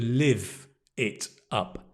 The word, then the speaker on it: live it up: the pronunciation is to live it up right to live it's the verb not live but to live to live it up